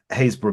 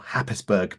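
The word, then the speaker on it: Happisburgh: spend the day on the hazor beach or harisburg Beach if you pronounce it incorrectly with Richard getting very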